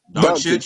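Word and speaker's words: Dončić: Doncic, you said it right.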